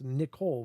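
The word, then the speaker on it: Knicole: Oh, it's Nicole with a K at the front.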